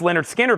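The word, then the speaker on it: Lynyrd Skynyrd: of analog Productions I've got one Leonard Skinner pronounced Leonard skinnard left for $64.99 and then the newest release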